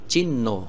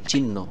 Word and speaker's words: চিহ্ন: উচ্চারণ করতে হবে কিন্তু এখানে কিন্তু হ উচ্চারণ হবে না জাস্ট এই হ টা উচ্চারণ হবে না এই ন টা দুইবার হবে চিহ্ন উচ্চারণ করতে হবে কি চিহ্ন এরকম অনেক শব্দ আমরা